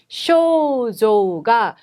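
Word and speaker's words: 症状: 양쪽 다에 우우 발음이 들어가는 장음 발음 쇼조가 오치츠이다 요데스네.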